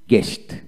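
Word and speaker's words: guest: লক্ষ্য করেন, এখানে জি ইউ ইএসটি, গেস্ট, গেস্ট, অর্থাৎ আইপিএস স্পেলিংটা হবে জি ই এস টি, গেস্ট, অর্থাৎ এখানে ইউ উচ্চারণ হয় না।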